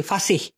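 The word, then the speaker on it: fasih: ঠিক আছে, আচ্ছা, ফাসিহ, ফাসিহ, ফাসি না কিন্তু, ফাসিহ। হ্যাঁ, অনেকে এভাবে উচ্চারণ করে থাকে, ফাসিহ, এফ এ এইচ, ফাহ এস আই এইচ, ফাসিহ, ফাসিহ।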